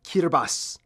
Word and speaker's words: Kiribati: It's pronounced Kiribati.